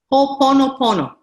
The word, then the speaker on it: Ho'oponopono: Ho'oponopono. Ho'oponopono. Ho, yeah. ho, and then oponopono. Ho'oponopono. Just one ho.